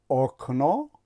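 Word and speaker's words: окна: اگر به تلفظ این کلمه توجه کنید ما تلفظ میکنیم آکنا، نمیگویم که آکنا، میگویم که آکنا. یعنی زده که این علامت زده است در هیجای چی؟ دوم می افتد و وقتی که زده در بالای حرف آ می افتد در هر هیجایی که باشد در آن صورت حرف آ تلفظ می شود.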